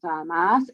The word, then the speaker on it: MaaS: Mobility as a service, or MaaS, that's pronounced MaaS, and autonomous vehicles.